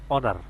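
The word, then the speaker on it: honour: Same একই রকম 3 নম্বর, এইচ এর সাউন্ডটা এখানে আসলো না, এখানে আসলো ও এন ও আর, অনার।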